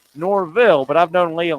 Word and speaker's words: Norvelle: Not Norvelle, Norville, but I've known Lee a long time.